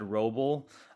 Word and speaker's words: Wrobel: I'm just at Roble uh spelled with a W like wrong and if you spell